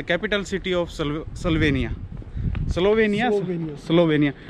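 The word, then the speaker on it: Slovenija: The capital city of स्लोवेनिया, स्लोवेनिया, स्लोवेनिया, बट ये कुछ और ही लिखते हैं लास्ट में, जे ए कुछ ऐसा, जे दे प्रोनाउंस लाइक वाई, हां वाई, या या स्लोवेनिया, या।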